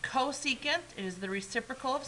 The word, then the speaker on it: cosecant: This is pronounced cosecant.